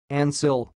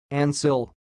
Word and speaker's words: Ancille: word you are watching it sounds like Ansel Ansel here we go again and sill and sill that's all thanks for